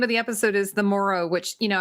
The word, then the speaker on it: Morrow: Oh, by the way, the name of the episode is the Morrow, which you know, I was saying it rhymes with sorrow, so it's uh you know, a very sort of um bittersweet episode.